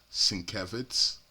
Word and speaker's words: Sienkiewicz: First thing, this is on paper and a pen and ink master copy from Bill Sienkiewicz. That's how you say his name.